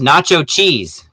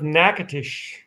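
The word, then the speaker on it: Natchitoches: of the state uh we thought it was pronounced nacho cheese that's not idiot nacho chitlets that's not that's not it either roger how do you pronounce this city name in louisiana no the great city of nakatish that's correct that doesn't sound french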